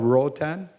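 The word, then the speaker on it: Roatán: growth in the Caribbean um the island of Rotan um which is spelled r o a t a n you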